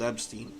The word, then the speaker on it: Epstein: Uh, it's EP as in EP. Stein, not EB as an Eb. I've been pronouncing it eB.